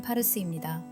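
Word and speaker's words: پارس: 원래 페르시아를 페르시아오로 발음하면 파르스입니다.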